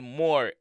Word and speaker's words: Moore: Not Muir, Chanel Moore.